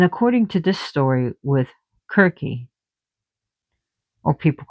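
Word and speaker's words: Circe: the prophecies of Kirk, which people call her Cersei here, but she's pronounced Kirk in in Greek, K I R K. So we spell her C I R C, but it's Kirk.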